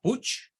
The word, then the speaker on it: Puig: primaria teníamos un profesor de apellido puig así se escribía Aunque lo pronunciaba Push no sé por qué catalán y él